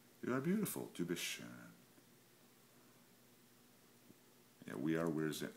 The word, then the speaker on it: schön: you say es ist schön. And the O with the umlaut, you pronounce it like a U-R.